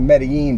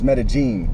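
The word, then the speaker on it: Medellín: in metagene oh okay people pronounce it meden but it's metagene you know what I'm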